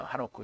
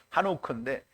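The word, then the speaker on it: חנוך: 그래서 에녹이라는 말은 하노크인데요. 하노크. 히브리어 발음은 한옥크인데 그럼 이제 우리말로는 이제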